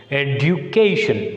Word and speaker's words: education: So whenever a word ends with ION, we should put stress on penultimate syllable. So penultimate. So you can write the ION. So where should we put? Second syllable from the end. Suffix is ION. So where should we put? Education. So you can put stress mark on C.